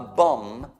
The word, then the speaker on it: bomb: C'è a bomb, scritto bomb, ma non si pronuncia l'ultimo B, è bomba.